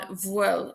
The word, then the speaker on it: bhfuil: Now, just a reminder that BH is pronounced like a W in Connacht and Ulster, and it's pronounced like a V in Munster and in the standard Irish, which you might have